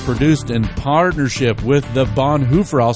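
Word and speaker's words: Bonhoeffer: The Gospel Underground podcast is produced in partnership with the Bonhooer I'll say it correctly because Randy said it earlier correctly the Bonhoover House.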